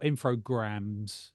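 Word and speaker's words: Infogrames: just made Reviving The Classic info uh or infograms is how they pronounced it brand and reintroducing it as a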